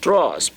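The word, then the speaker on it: trois: that is the pronunciation the last s there is silence the last is what about silence okay that's a very good one somebody's saying silence okay the S is silent it's not pronounced okay so the pronunciation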